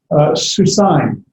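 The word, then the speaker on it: סוּסַיִם: So it's susaim. It's like an AIM ending. It's a diphthong. So it's not 2 different vowels. It functions as 1 vowel.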